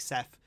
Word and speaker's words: Seth: my name right uh like Seth it's because of how it's spelled uh people just say Steph inste instead so you